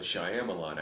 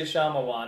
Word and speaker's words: Shyamalan: That way, when it's over, you could do an episode on the Shyamalan adaptation. There you go. I love the way you say Shyamalan.